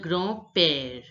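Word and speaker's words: grand-père: called Le Gro pair look the a n Sound you all know that it becomes o in French a n is pronounced as o the nasal sound and the last word d and the last letter D is not pronounced we have just done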